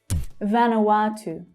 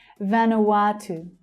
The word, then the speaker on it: Vanuatu: Vanuatu. Vanuatu. That third syllable is the stressed one. Vanuatu.